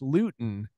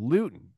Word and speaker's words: Luton: and by his mispronunciation the actual town is pronounced Luton so Luton that's the town this is the planet fancy